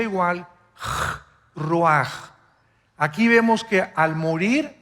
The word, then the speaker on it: ruach: versículo 29 y exhaló Isaac Qué cosa el ruaj que se escribe r u a c h ruach en el hebreo y y se pronuncia igual raj Aquí vemos que al morir dos personas diferentes